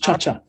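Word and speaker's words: Tsha Tsha: Sorry, I'm rubbish with my Cha-cha. It's actually, it's named after the Latin American ballroom dance, just cha-cha.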